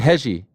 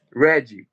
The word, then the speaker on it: Reggie: Or is it Hegi? He passed away, but... You wrote something very nice about him. Tell me. Well, is that how you pronounce his name? Yes, Reggie. Reggie.